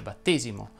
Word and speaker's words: battesimo: cambia tutto ed infatti le parole che terminano in esimo ma non sono numerali vanno pronunciate con la è chiusa si dice battesimo protestantesimo cristianesimo e così via una sola